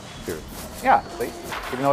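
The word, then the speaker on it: Cirith: Kirith.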